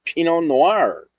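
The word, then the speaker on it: pinot noir: A pino noir. You don't pronounce a T.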